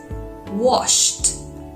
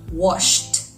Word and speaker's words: washed: correct pronunciation another word washed washed wash it doesn't vibrate so the D sounds like T washed simple isn't it but